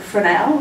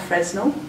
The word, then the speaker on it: Fresnel: to a Frenchman and it took me a while to know that you pronounced it for now not Fresnel and Augustine shore for